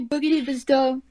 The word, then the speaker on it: Boogidibzdo: how do we pronounce your username you've been pronouncing it right it's really boogie divas done yes excellent take it to the big boys